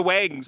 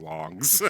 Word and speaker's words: Wongs: Oh, they're the Wangs. I mispronounced it. Right, yes. I know they're the fucking Wongs.